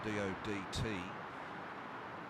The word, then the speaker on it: Dodt: there in the UK exactly the same spelling but pronounced as a DOT but generous tide is